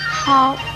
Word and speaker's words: 叨: 叨这个字的国语注音是叨，一声叨，喝凹叨，一声叨。